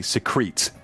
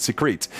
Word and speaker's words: secretes: um he secreted uh it's actually secretes and i thought that was the dumbest pronunciation in the world and i was wrong that's actually how it's correctly done so it secretes uh so never fear